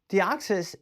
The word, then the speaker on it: Deoxys: That Deoxys, I'm gonna do the pronunciation today for Deoxys. Deoxys is going to now Deoxys is $165,000.